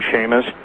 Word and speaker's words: Chamish: Yes, and interestingly enough, really interestingly enough, I don't know if you've ever read any of Barry Chamish, C-H-A-M-I-S-H, or some people pronounce his name Shamish, from Israel, but he's